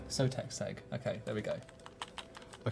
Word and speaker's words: Sotetseg: how to pronounce it properly. It's Sotetseg. Sotetseg.